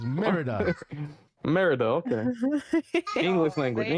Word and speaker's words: Merida: Ratatouille, Manuel, Marita, Launchpad, and Carl. Rita. Yo, can we talk about Wait, something real what? quick? Marita. They have Marita. That's how it's spelled. It's Merida.